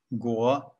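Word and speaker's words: 果: That's a character pronounced guo, and it means fruit.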